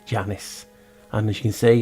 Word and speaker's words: Janus: But as you know, Janus is pronounced Janos. Janos is Janus.